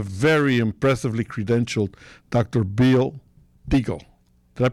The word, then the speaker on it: Deagle: Bill Deagle. Did I pronounce right? Yeah, Deagle.